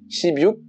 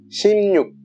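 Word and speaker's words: 십육: J'entends tout le temps shibyuk, mais non, ça a rien à voir, ça se dit shimnyuk. Même si oui, ça s'écrit shibyuk et qu'on a envie de le dire comme ça, mais vraiment, shibyuk ça veut rien dire du tout. La prononciation c'est bien shimnyuk.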